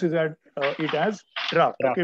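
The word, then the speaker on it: draught: is that it has draft okay we don't say drought but actual spelling is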